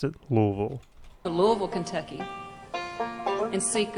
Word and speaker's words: Louisville: I used to call it Louisville and Louisville, but when I actually finally met somebody from Louisville, that's exactly how they pronounced it, Louisville.